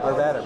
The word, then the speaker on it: Arvada: Arvada. All right. Here's how you remember this. Rhymes with Nevada.